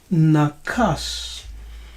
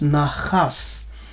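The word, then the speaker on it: נחש: And in Biblical Hebrew, we have the word nakas. And it can also be pronounced as nachas, with a G sound, nachas. Nakas, nachas.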